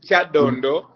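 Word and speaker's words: Kyadondo: name wrong uh that no the name is Chad Dondo but you pronounce it in a very interesting way and I will not be surprised when I go back and the ugandans are calling it chadundo because it sounds Musical um I was elected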